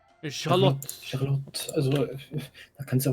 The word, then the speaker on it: Charlotte: Sie wird ja tatsächlich Englisch ausgesprochen. Charlotte. Okay. Naja, Französisch klingt jetzt der Name auch nicht so unglaublich gut. Wie wäre es denn auf Französisch? Oh, Charlotte. So ähnlich. Charlotte.